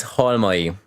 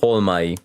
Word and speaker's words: Halmai: name yeah of course that is Hall money instead of all my such an easy one